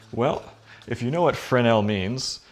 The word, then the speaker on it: Fresnel: if you know what Fran el means some people who are more anglicized than I am coming from a bilingual province would call this a Fresnel it's not how it's pronounced so it's a lensing